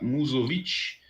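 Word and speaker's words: Musović: começando pela goleira azeitira muzzovit que esse S tem o coisinha em cima Então deve ser pronunciado assim mas o Sérgio também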